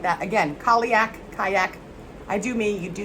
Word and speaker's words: Cailleach: But I'm feeling, because of this Cailleach, earth meets water, where the shore meets where the water meets the shore and the earth come together.